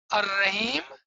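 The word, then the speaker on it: الرحيم: If you're writing it, you will write Al-Rahim, but when you say it together, Ar-Rahman Ur-Rahim. Now the Alif and Lam both becomes silent.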